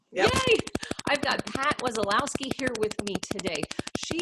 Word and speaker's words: Wesolowski: I've got Pat Wesolowski. Rats, I forgot to ask you how to pronounce that before we got started. Is that correct? That's perfect. Yep. Yay! I've got Pat Wesolowski here with me today.